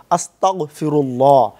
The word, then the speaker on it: আস্তাগফিরুল্লাহ: উচ্চারণগত যে ভুল, অর্থাৎ এখানে যে বলতে হবে আস্তাগফিরুল্লাহ, আল্লাহ আমাকে ক্ষমা করুন, কিন্তু আমরা দেখা যাচ্ছে যে মৌখিকভাবে বলি আস্তাগফিরুল্লাহ অর্থাৎ কাফ দিয়া বলি, কেউ কফ দিয়া বলতে চাই, যেটা হচ্ছে আল্লাহ আমাকে কুফরকারী বানাই দেন।